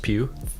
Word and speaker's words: Pugh: Is it not just Pugh? Florence Pugh, yeah.